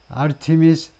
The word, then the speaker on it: Artemis: 나사의 아르테미스 프로그램에서 두 번에 다가오는 미션 중에 스페이스X의 우주선을 빌릴 거다 이거죠. 빌려서 달나라에 우주인들을 보낼 거다. 그래서 아르테미스는 발음은 아르테미스. 첫 번째 음절에 액센트가 있고 아르테미스고, 그 다음에 원래의 뜻은 the goddess of the hunt.